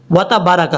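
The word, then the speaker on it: وتبارك: وَتَبَارَكَ اسْمُكَ، حالانکہ با کے آگے الف ہے، اس کو لمبا کر کے پڑھیں گے۔ کیسے؟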